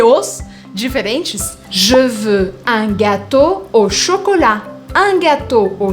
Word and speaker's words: gâteau: E-A-U. Todas as vezes que você encontrar E-A-U, você vai falar O. Quer um exemplo, então? Para todos esses exemplos de Os diferentes? Je veux un gâteau au chocolat.